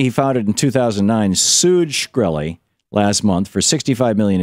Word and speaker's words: Shkreli: That was Martin Shkreli, I think it's pronounced, S-H-K-R-E-L-I.